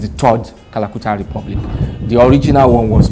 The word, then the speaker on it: Kalakuta: Calcutta, if a typical African wants to pronounce it, it just become Kalakuta.